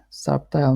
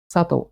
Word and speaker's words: subtle: pronounced this word incorrectly subtile no subtle subtle maybe subtle subtle subtle yeah subtle subtle